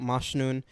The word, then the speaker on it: Mashnun: little thing, I wrote mashnun, and then I wrote in parentheses the pronunciation mosh as in mosh pit, noon as in 12 o'clock.